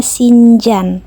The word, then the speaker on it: Sincan: Nama kotanya lucu ya, Guys. Sincan. Tapi kita bacanya Sinjan pakai J.